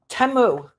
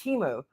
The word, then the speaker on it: Temu: temu that I told TAMU TAMU it's timu why does Laura mispronounce everything she's like these are ten dollars uh extensions I got from temo it's Teemu dude like there's a million